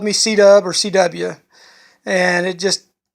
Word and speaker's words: C-Dub: And that's how I picked up the nickname C-Dub. Because it's C and then WD, so he would just pronounce it C-Dub.